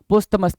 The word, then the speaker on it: posthumous: पोस्थमस, POSTHUMOUS, पोस्थमस, पोस्थमस।